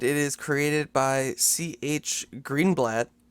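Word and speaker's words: Greenblatt: by CH green blat I don't know if I'm saying his last name right it's like yeah Green blat okay good I just I saw blat and I didn't want to say it like you know blat blat s say it Angry yeah so we've got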